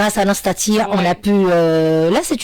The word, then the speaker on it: Nastatii: Nastatia on a pu.